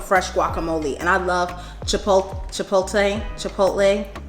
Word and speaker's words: chipotle: Chipotle. Chipotle. Chipotle. I think it's meant to say chipotle. Chipotle. Chipotle. No, it's not no chipolate. Chipotle. It's chipotle.